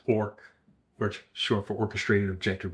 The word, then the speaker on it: Orch: You're referring to Orch, O R spelled O R C H, pronounced ork, which short for orchestrated objective reduction.